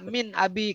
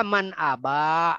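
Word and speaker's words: إلا من أبى: Illa min abi, kecuali dari ayahku, katanya. Salah betul? Salah, Pak. Salah. Yang betul bacanya? Nggak pakai. Yang betul. Illa man aba. Itu jangan min abi.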